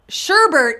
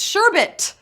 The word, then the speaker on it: sherbet: Sherbert is how I say it, and apparently how Scotty says it. Sherbert, but there's no R. It's sherbet. That's how it's spelled, sherbet.